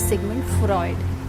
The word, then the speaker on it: Sigmund Freud: जो नाम है, people call it Freud, people call it Freud, but this is Sigmund Freud.